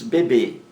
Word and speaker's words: bebê: Acima temos bebê. Bebê é uma palavra oxítona. A sílaba mais forte é a última.